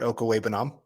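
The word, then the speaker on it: Okwuegbunam: Albert Okawa. Okay. Nailed it. It's always fun to listen every week to them try to pronounce that name, and man, they have an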